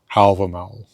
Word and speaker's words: Hávamál: in the Poetic Edda called Hávamál or in modern Icelandic pronunciation Houvamaul.